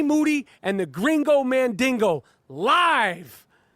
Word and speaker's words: Moody: G Moody rhymes with duty, and the Gringo Mandingo live July 28th in Minneapolis, Minnesota.